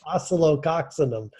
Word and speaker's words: Oscillococcinum: So one of the homeopathic remedy I like is oscillococcinum. Oh, is that a Harry Potter spell? I took a special course to be able to pronounce that. Okay, can you pronounce it again? It's oscillococcinum.